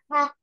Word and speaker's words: half: Half. Now the L is silent, so it's half.